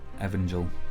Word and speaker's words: Evangel: Evangel.